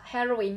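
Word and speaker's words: heroine: Từ này cũng đọc là heroin nhưng mà nó là nữ anh hùng của tôi là đây là thuốc gây nghiện, đúng không ạ?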